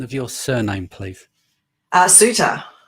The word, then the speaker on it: Soutter: your surname please uh suitor it's suitor i thought it was